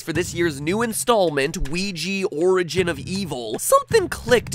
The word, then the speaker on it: Ouija: ouija series we JA Ouija I pronounced it we G as in creepy Luigi I just double-check the Cambridge English dictionary and it is in fact Ouija in the US and in the UK boom